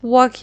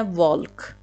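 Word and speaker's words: walk: این نباید اکورت پرونانسییشنش تلفظ درستش واک هست نه والک والک نوشته میشه ولی واک خونده میشه یعنی راه رفتن اینم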